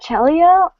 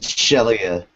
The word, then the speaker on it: Shelia: Is that Chelia? Like that? What? Chelia. Okay, so it is kind of like saying It's Shelia, actually.